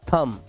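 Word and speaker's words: thumb: थम, ये थम ब नहीं है, ब नहीं बोलना है आपको, इसको बोलना है थम, ठीक है।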